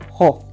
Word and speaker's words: Ho: And the final word is ho, which sounds like H-O-H, ho.